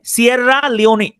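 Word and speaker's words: Sierra Leone: এস I double আর এলই ও এনই আমি উচ্চারণ করি এভাবে সিরা লিওনি সিরা লিওনি সিরা লিওনি হচ্ছে সিরা লিওন কমিটমেন্ট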